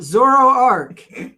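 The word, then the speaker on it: Zoroark: Zoro Arc, pronounced Zoro Arc, is a dark type Pokemon.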